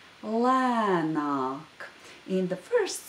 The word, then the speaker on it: lēnāk: Now the first word of the saying, and that word is lēnāk. Lēnāk. In the first syllable of this word, there is the long vowel a, which is pronounced broad in this word.